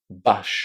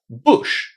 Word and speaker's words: bush: But no, it's not bash. No, no, no, no, no, no. You need to say bush. So, butcher and bush. Try to remember these because these are kind of exceptions. There's a very small group of words in English where the letter U is pronounced as well an oo.